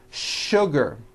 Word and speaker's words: sugar: in English that are written with the letter s but are pronounced with the sh sound words like sugar and sure and to